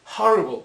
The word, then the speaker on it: horrible: However, when the letter H has a sound like h, then it is pronounced like horrible. It is as if it were a consonant sound. In this case, we say a horrible man.